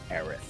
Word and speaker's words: Aerith: We have Aerith. Argument about how her name is pronounced. Some people say Aerith. Some people say other things, but it is Aerith.